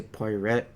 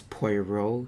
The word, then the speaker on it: Poirot: what I know now no that's how you say it because apparently I used to say party red it's POI row so yeah her Guild